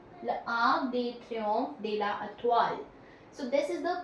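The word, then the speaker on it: L'Arc de Triomphe de l'Étoile: L'Arc de Triomphe de la Étoile. L'Arc de Triomphe de la Étoile. L'Arc de Triomphe de la Étoile.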